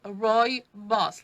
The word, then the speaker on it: Rooibos: roi boss r-o-o-i-b-o-s and you pronounce it roy boss like roy and his boss uh it's um roibos